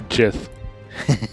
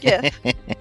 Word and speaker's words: Gith: Is it Gith or Jith? Gith. The creator pronounces it shit.